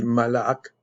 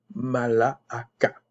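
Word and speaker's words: ملك: et me dit, non, ça se dit malak, malak, mais le ak, ça fait comme K.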